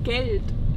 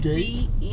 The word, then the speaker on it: Geld: Geld. Geld. How you spell it? Gate? No, not gate. Geld. G-E-L-D.